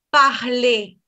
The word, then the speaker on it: parler: Parler. En infinitivo pronuncio la E.